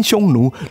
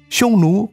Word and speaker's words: Xiongnu: Xiongnu, pronounced in ancient Chinese, would probably sound something like Hunnu, and there are various